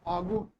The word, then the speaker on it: फाल्गुन: भी विशेषकर फाल्गुन मास, फाल्गुन मास पढ़ते इसको वास्तव में फागुन, ला साइलेंट होता है, लिखते हैं फाल्गुन।